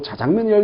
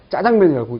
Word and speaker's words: 짜장면: 온 국민이 짜장면이라고 얘기를 하는데, 자장면이라고 쓰고, 자장면이라고 읽어달라고 얘기하니까 굉장히 부담스러웠었던. 그러나 이제, 짜장면이라고 쓰고, 짜장면이라고 읽어도, 상관이 없는 시절이 됐습니다.